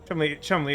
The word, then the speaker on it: Cholmondeley: Chumley is in fact evil. I was having a lot of fun just deliberately mispronouncing it.